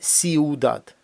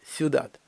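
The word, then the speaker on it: ciudad: руїдо тріунфо юдат куйдадо Зверніть увагу на вимову слова фюдат це не є сіудат як багато хто з наше говорить і не є сіудат є сюдат сюдат звук який переходить Від і дО у подібний до нашого ю або ю юдат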